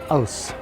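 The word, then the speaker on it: Aass: this is house Pilsner it was spelled a a SS and they say on the sign pronounced os-- because you know how you would want to pronounce that and they do too and they also sell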